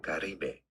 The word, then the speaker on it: Caribe: We are looking at how to pronounce this word as well, and it's said in Spanish as Caribe.